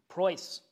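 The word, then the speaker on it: Preus: and the gospel right that is how you pronounce it price price yes Clement price p-r-e-u-s right right you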